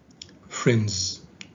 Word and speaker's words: friends: Okay, whereas here it is located after a voiced consonant, so it is pronounced in the phoneme Z. Friends.